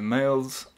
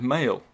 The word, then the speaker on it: Mayle: Mayle's. They wrote his name wrong. It's Mayle.